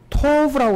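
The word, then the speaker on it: טוב: 근데 좋았다는 이 단어가 히브리어로 경우 토브라고 그렇게 발음을 하는데 토브라는 단어가 영어로 번역하면은 good 이라고 번역해요.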